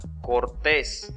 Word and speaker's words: cortés: Miren esta otra. Cortés. Su sílaba tónica es la última. Termina en S, por eso se tilda.